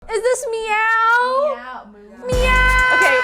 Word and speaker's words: MEOVV: Is this meow? Meow. Meow. Okay. How are you supposed to pronounce it? Meow. Meow. Okay. It's not moo.